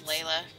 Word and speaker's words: Layla: I guess it's not really Lila, it's Layla.